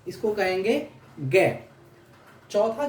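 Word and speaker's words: Г: चौथा हो जाएगा गे, चौथा होता है गे को हम ऐसे प्रोनाउंस करते हैं, देख रहे हैं इसको क्या, गे, इसको क्या कहेंगे, गे।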